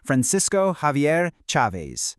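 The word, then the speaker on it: Francisco Xavier Chávez: And just so we're all on the same page, his name is pronounced Francisco Xavier Chavez. Let's try it. Francisco Xavier Chavez.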